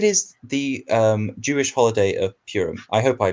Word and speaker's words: Purim: week because it is the Jewish holiday of Purim. I hope I pronounced that right.